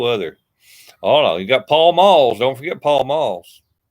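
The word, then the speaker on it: Pall Mall: Oh no, you got Paul Malls. Don't forget Paul Malls. I don't know why people called him Pell Mell when they were pronounced Paul Mall, or spelled Paul Mall, and they pronounce it Pell Mell.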